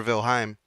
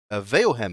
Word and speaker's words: Veilhem: You find Professor Velheim, Veilhem. In fact, the I is in the other syllable.